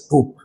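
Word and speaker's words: troop: अ ग्रुप of soldiers ट्रूप। सैनिकों का समूह सैन्य मंडली टू प्रोनंसिएशन दोनों का लगभग एक जैसा है मगर स्पेलिंग में थोड़ा डिफरेंस है।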